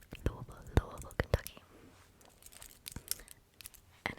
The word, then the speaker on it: Louisville: I think good night to l L Lou Louisville Kentucky and it's pronounced that way by the way good night